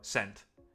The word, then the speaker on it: scent: English language Works yes the C is silent the S is more pronounced for scent you know saying that